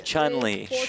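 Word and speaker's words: Chun-Li: Chun like rhymes with June. What is What is happening? Jeff, I haven't I haven't played Street Fighter recently. Chunley Chun producer Pat gets in my ear and says it's Chunley.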